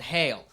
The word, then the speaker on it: Geel: There's this a small little village in Belgium called Hay-eel, right? It's spelled Geel because they're Belgium and don't give a shit about American letters.